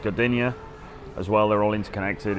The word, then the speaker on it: Gdynia: You've got Gdansk, and then you've got Sopot, and you've got I think it's pronounced Gdynia as well.